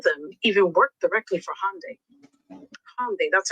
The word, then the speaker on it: Hyundai: And here's the thing, Hyundai already confirmed none of them even worked directly for Hyundai. Hyundai, that's how you pronounce it, by the way.